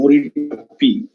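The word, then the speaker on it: Marichjhapi: basically an island called mori chappie i also that's the correct bengali pronunciation morita p where you know the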